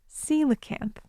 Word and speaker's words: coelacanth: It's spelled c o e l a c a n t h, and it's pronounced coelacanth.